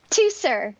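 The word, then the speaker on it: Teucer: ingention uh what yeah what how do you pronounce his name two sir two sir and that's the younger brother of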